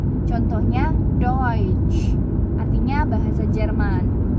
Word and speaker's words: Deutsch: Nah, berikutnya adalah huruf E ketemu U. Nah, itu dibacanya bukannya eu, tapi dibacanya oi. Contohnya Deutsch, artinya bahasa Jerman, Deutsch.